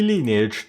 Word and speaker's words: Lineage: in my mind and in my heart it's linage. So, yeah, that that's the story for that one. I'm aware it's supposed to be lineage, too. No, for me it's linage.